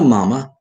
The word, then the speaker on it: mama: Young people should be taught to say yes, papa, or father if preferred, no, mama, or mother if preferred, with accent on the second syllable of mama and papa.